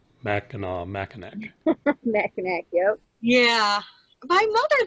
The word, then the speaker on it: Mackinac: it's and michela mackinac even the fort is pronounced the same way and it has a c so yeah it's always